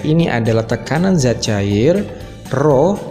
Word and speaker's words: Rho: Dengan P ini adalah tekanan zat cair, Rho dibacanya Rho ya, yang kayak huruf P itu.